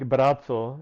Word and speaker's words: Braco: Yeah, it's in our language is pronounced like Bratzo and like a pizza.